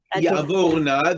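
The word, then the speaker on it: יַעֲבָר־נָא: Ya'avar ne Ya'avorna, this would be a kamatz katan, a kamatz in a closed unaccented syllable. Thus, ya'avorna.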